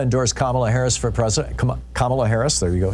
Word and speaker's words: Kamala: and Michelle Obama endorse kamla Harris for president kamla Harris there you go saying it right now